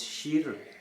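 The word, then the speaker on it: شیر: Mais parmi les choses qu'on mettait à table, il y avait du lait, ça commence par, ça veut dire, en persan, ça se prononce shir, shir Ouais.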